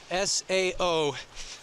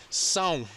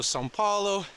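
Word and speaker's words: São Paulo: in brazil sao paulo s-a-o that's not pronounced sao like some people would say it's actually pronounced song so it goes into a nasally and so sao paulo santiago santiago is the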